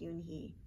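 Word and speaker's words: Unhei: to you joey she nodded slowly yes it's pronounced yoon he and it means grace mr kim added uni joey said slowly and this time perfectly and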